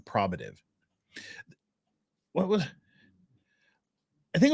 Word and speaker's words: probative: of the OS Pro probative okay I know you're from New Mexico judge but probative probative value H she just said Pro if she says it